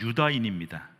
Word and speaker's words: 유다인: 사람들을 오늘날 뭐라고 그러냐 유대인이라고 부르는데 그건 이제 한자식이고요 정확한 발음 유다인입니다 그렇게 될 정도로 유다지파가